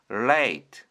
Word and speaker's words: late: 여기서도 L A E L은 리을 A는 원래 에인데 뒤에 E가 따라왔기 때문에 자기 원래 이름인 A로 소리가 나고요. T는 티는 소리가 나지 않습니다. 그래서 합치면 late late 이번 단어는 생명 인생을 뜻하는 Li프입니다.